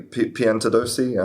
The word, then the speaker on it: Piantadosi: Um I hope I pronounced your name correctly, Piantadosi. Um Yes, that's right.